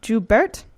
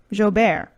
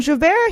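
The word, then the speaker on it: Jaubert: I say his name Herve d'hubert thank you Joubert that is way more French than when I said and Javert he did manage to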